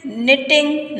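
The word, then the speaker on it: knitting: तो शी इज़ निटिंग नाउ, निटिंग माने होता है बुनना, जैसे स्वेटर बुनते हैं उसको कहते हैं निटिंग, KNIT, के साइलेंट होता है प्रोनाउंसिएशन में।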